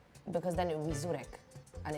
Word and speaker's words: żurek: So this is called żurek. Żurek. Yeah, and it's spelt with a Z with a dot on top of it.